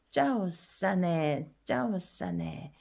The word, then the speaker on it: เจ้าเสน่ห์: 내도 얘가 저자음이지만 써 때문에 고자음화 되었죠. 고자음에 일자가 붙으면 일성이라 그랬으니까 얘도 일성. 그래서 싸네가 되는 거예요. 허힙은 묵음이고. 자, 짜오싸네, 매력적인.